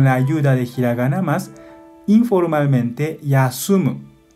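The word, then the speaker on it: 休む: podemos recordar esta letra on mi pronuncia kunyomi pronuncia con la ayuda de hiraganas informalmente yasumu yasumu formalmente con forma más yasumi má yasumi má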